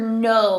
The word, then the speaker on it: know: how about this one this is where that k is silent remember we don't say it's silent this is the word no like i know something in my brain leopards